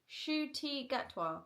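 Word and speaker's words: Ncuti Gatwa: Shooty Gatwa.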